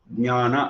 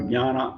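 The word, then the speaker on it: ज्ञान: We are using Ga, whereas the correct one is Ja. That is why in English you start with J and we start with G.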